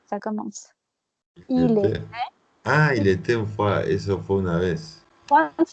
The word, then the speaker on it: il était une fois: Sauf qu'on prononce il était une fois. Pourquoi on dit il était une fois? Parce qu'il y a le T.